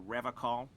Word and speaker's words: Revachol: I've been tempted on occasion, but someone has to stay strong for Revachol. Revachol? I thought it was pronounced Revachol. He pronounces Revachol with a hard K, unlike other people.